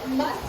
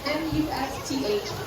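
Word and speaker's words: musth: Now, male elephants go through a natural hormonal change called must. Now, must is spelled M-U-S-T-H, and during must, an elephant's testosterone can go up to 60 times the normal amount.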